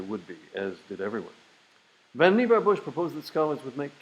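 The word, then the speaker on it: Vannevar Bush: middle- class homes jump 500 years to 1945 vanar Bush that's his his name is pronounced vanar Bush President Roosevelt science adviser writes an article predicting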